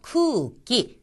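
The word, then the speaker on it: くうき: 크기 기라는 것이 나왔죠 쿠 다음도 길게 발음이 나서 쿠 하고 나고 키는 처음이 아니기 때문에 끼와 가깝습니다 쿠기 공기라는 뜻입니다 오네상 오네상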